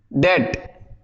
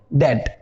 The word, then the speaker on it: debt: ऐसे ही एक होता है DEBT, डेट। यहां बी साइलेंट हो जाएगा तो क्या बोलेंगे इसको, डेट, डेट, या याद रखेंगे।